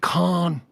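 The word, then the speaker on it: Cannes: out and apparently it's going to debut at Khan that is the proper pronunciation Film Festival uh what is going 80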